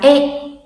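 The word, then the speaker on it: へ: Nhắc lại là trợ từ này là viết bằng chữ he nhưng đọc là e.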